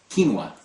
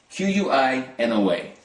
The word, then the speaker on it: quinoa: This is something called quinoa. It's spelled Quinoa.